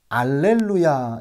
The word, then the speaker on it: 알렐루야: 여러분, 우리가 예전에 불렀던 찬양 중에 알렐루야 이렇게 발음을 하는 찬양도 있어요. 도대체 할렐루야는 뭐고 알렐루야는 뭐냐라고 할 때에 알렐루야는 라틴어로 할렐루야를 발음할 경우에 알렐루야라고 그렇게 발음이 됩니다.